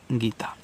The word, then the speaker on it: Geeta: टी से आपका बनता है ता, ये जो सबसे किनारे एकदम लास्ट में ए आता है, इससे मात्रा आपको लगाना ही पड़ेगा, आप इस ए को साइलेंट नहीं करोगे।